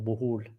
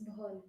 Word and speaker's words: Bohol: Jay Hunt, not being critical, but please work on your pronunciation of Bohol. Bohol? Bohol. Bohol? It's Bohol. Bohol. It's Bohol. not Bohol. Not Bohol, but Bohol. Yeah, because it's oh, you should sound it.